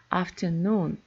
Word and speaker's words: afternoon: For example, afternoon. So noon is the main stress and afternoon the secondary stress after.